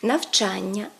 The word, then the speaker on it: навчання: трапляється дуже часто наприклад від дієслівні іменники на Ані У яких більше двох складів Вони мають наголос на суфікси тобто правильно говорити навчання завдання читання видання наступне у багатьох іменників